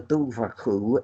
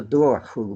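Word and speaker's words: dobhar-chú: he called it the dover who though in parts of Ireland today it's pronounced the door who because I'm sure you're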